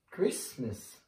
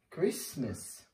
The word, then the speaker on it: Christmas: this don't whistle I don't like this sound Christmas Christmas I like celebrating Christmas and the last one